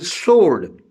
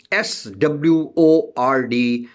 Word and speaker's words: sword: In sword, SWORD, sword. W is silent.